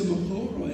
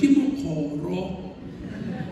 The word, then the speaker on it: Mokgoro: And those who pronounce her Mokgoro and Mokgoro should have listened properly, Mokgoro. And that's the only way to pronounce it, no other.